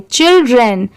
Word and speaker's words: children: इसलिए इसे चिल पढ़ेंगे, चिल्ड्रेन, ठीक है। यहाँ पर चाइल्ड की साउंड नहीं आ रही है, chil चिल हो गया और dren ड्रेन हो गया, चिल्ड्रेन, ठीक है।